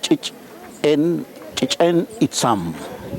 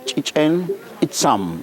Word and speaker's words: Chichen Itzam: So the correct name is Chichen Itzam. Chichen Itzam. Chichen Itzam. That's how you pronounce it in Maya.